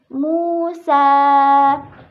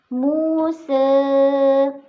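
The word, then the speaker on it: موسى: Contoh katanya yaitu kata Musa, itu boleh dibaca dengan fathah, dan selanjutnya boleh dibaca dengan taklil menjadi Musa.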